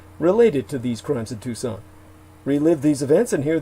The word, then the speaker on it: Tucson: never be removed for tour information contact the tucson murders dot com spell it tucks in t-u-c s-o-n and put the